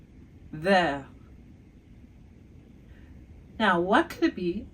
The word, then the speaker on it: vert: So we go from vert, even though in the masculine form, we don't say the T, but in the feminine form, we say the T because it ends with an E. So, vert to verte.